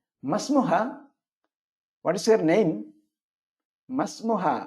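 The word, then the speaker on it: ما اسمه: what is your name മസ്മുഹ മ ഇസ്മുഹ എന്നല്ല മസ്മുഹ അതുകൊണ്ടാണ് ഇസ്മിന്റെ അലിഫിന് ചേർത്ത് വായിക്കുമ്പോൾ ഉച്ചാരണം ഇല്ലാത്ത അടയാളം കൊടുത്തിരിക്കുന്നത് ആ അലിഫിന്റെ മുകളിൽ നോക്കാം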